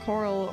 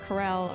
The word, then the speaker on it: Corel: left of Barrett's Hometown Coral or Corel or however you want to say it I usually say Coral um hi Madeline how